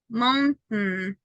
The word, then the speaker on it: mountain: You have to stop on letter T, and then you only have the sound. Is that certain, mountain, fountain. It's like I'm not pronouncing completely this part. Okay, because I stop letter T, stop letter T. I do not pronounce this.